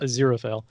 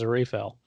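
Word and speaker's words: Aziraphale: refill as zero fail now that I know how to pronounce the name zero fail I always said it in my head as a refill and then yeah I've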